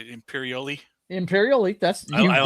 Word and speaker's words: Imperioli: I don't know how to say it, Imperioli.